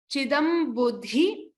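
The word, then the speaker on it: chidambudhi: Chidam buddhi. This is a Mahaprana dha. So like dharma. So that Mahaprana dha needs to be stressed upon.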